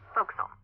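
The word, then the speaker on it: forecastle: ship but it's pronounced fil why is that try pronouncing it like an English sailor with no formal education F Castle folville over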